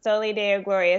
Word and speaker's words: Soli Deo Gloria: I host a community of women called the Soli Deo Gloria Sisterhood, and it's Latin for "To God Alone Be the Glory."